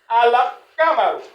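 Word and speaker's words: القمر: Donc ce qui veut dire que quoi se prononce donc l'âme se prononce donc on dit on lit ça al tout simplement cela se lit al hein al gamaro aussi simple que ça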